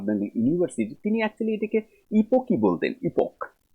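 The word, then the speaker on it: epoché: Actually 3টা হচ্ছে, একটা হচ্ছে হুসার্লের যে ফিলসফি রয়েছে সেটা ফেনোমেনोलॉजी, সেখানে তোমরা ইপোক নামক এক বিষয় পাবে, অনেকে ইপোকেও বলে এটাকে, অ্যাকচুয়ালি এটার মেন উচ্চারণ হয় ইপক, ইপক মেকিং প্রসিডিওর।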